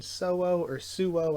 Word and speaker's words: Suo: For the 91st place, we have a 5-way tie between Suo, I think is technically how it should be pronounced, Kanzone, Hell Joe, which was one of the biggest surprises to me that shouldn't have been a surprise.